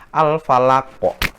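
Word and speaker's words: الفلق: ada kata-kata al-falaki al-falaki al-falaki itu kalau diwakafkan disukunkan maka dia bacanya adalah al-falaq al-falaq al-falaq kok Yang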